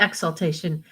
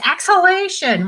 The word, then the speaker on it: Exhalation: it is axel no not exultation exhalation i think it's like exhaling but with ion i can't even pronounce the book i'm going to read today that's not a good start exhalation exhalation i know my mother's out there saying it's exhalation why can't you say